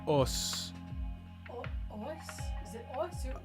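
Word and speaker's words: 押忍: Yeah, like os. Os? Is it os or oos? O-S-U in the Japanese pronunciation.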